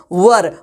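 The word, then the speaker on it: were: भाई इसे वेयर नहीं बोलते, आप लोग क्या बोलिएगा, वर, वाज और वर, वर बोलते हैं, वेयर नहीं बोलते हैं, ठीक है। आप लोग इस बात का खासा ध्यान दीजिएगा, प्रोनाउंसिएशन इसका क्या करते हैं हम लोग, वर।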